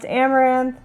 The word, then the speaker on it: Amouranth: My stream name is pronounced Amouranth, and I do a variety of things.